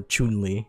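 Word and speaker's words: Chun-Li: guile right and then chunners or chunely which is I guess is the appropriate way to pronounce her name but you know American so we're gonna keep calling her Chun Li chunners over here uh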